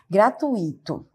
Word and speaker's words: gratuito: Outro exemplo que a gente pode verificar no nosso cotidiano é a palavra gratuito. Já no cotidiano a gente ouve muito, né? Gratuito. E a forma adequada é gratuito.